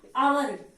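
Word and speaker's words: hour: second देखिए आवर, क्या है ये, आवर, तो क्या है ये,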